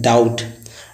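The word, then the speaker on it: doubt: एक next example है डाउट। डाउट का अर्थ होता है शक, संदेह। तो इसमें देखिए टी से पहले बी आया, एम के बाद बी आया, तो बी साइलेंट होता है।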